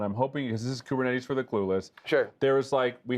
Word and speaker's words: Kubernetes: We actually pronounce it wrong. I think if you're actually Greek, you pronounce it something like Kubernetes or something like that. But it's too late. Everyone's been saying it wrong.